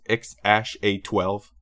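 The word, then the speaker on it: X Æ A-12: Then the ever so famous this which apparently it's pronounced X Ash A12.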